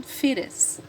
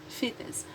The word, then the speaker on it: fetus: So, the first one is fetus or fetus. American pronunciation, fetus. British, fetus.